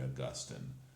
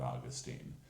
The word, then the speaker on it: Augustine: green and not yellow you're really sure that it has to be Augustine and not Austine you're really sure it